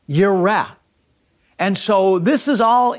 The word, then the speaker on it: Jireh: It's Yahweh, and Jireh is not pronounced Jireh, it's pronounced Yireh.